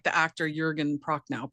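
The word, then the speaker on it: Jürgen: Yeah, well, Jurgen, I don't know. I do think they say Jurgen more than Jurgen, but We can go with Jurgen because I know like the actor Jurgen Prochnow pronounces it that way.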